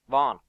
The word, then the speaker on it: Vaughan: So what I think was the most interesting news is that Brian Vaughan, is that how you pronounce his name? Vaughan, thank you.